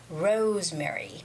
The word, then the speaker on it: rosemary: word was rosemary and i think in korea and in japan i think we would say this and make it into a four-syllable word but it's actually rosemary rosemary and the stress goes on the first syllable which is rose rosemary rosemary okay and